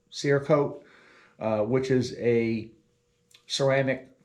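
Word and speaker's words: Cerakote: are going to be Siri coated I think I should pronounce it Siri coat seir coat uh which is a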